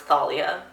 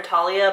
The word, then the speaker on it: Thalia: I still don't like the fact that it's pronounced Thalia. I kind of want to keep calling her Talia, but I know names mean a lot in this world, so I'm going to call her Thalia, but don't like it.